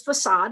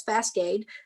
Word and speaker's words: facade: And I said it was facade, and I said it as Fascade.